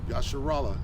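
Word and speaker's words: ישראל: Yasharallah is how you say your name in the ancient Hebrew.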